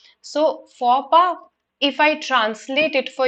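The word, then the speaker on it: faux pas: is pronounced as for the x is silent and p the s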